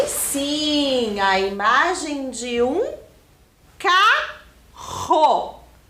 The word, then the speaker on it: carro: Olha só o som, hein? Carro. Vocês percebem que o som que eu estou fazendo é bem forte para fazer a sílaba ro? Então, isso significa que essa palavra é escrita com 2 R's.